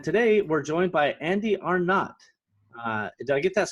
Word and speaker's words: Arnot: a lot you know are no they think the double t is silent and all that fun stuff so yeah no you